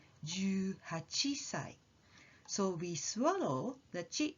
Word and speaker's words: 18歳: Try jumping up when you say the sound before the small tsu, like 18歳 or 21歳, and you will get the right sound.